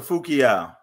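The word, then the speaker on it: Fu-Kiau: And that is by Kia Bonseki Fu Kayu, PhD. How did I do with that one? It's Dr. Fukiao.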